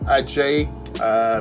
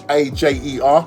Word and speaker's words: Ajer: His name is if I can just pronounce it, Ajay. Let's just make sure I've got the right name. He's Norwegian. Christopher Ajer. That's Ajer. That's his surname.